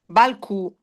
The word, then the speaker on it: balcù: Però Balc invece Balq mh sicuramente l'accento sulla U.